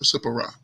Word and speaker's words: Zipporah: Her name is Zipporah. Sipporah. There's another silent T out.